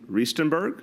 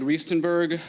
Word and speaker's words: Riestenberg: Riestenberg? You said it right. All right. I'm working on it. Good afternoon. I'm Riestenberg, a graphic designer and